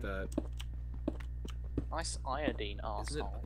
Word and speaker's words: iodine: Nice iodine, arsehole. Is it not iodine?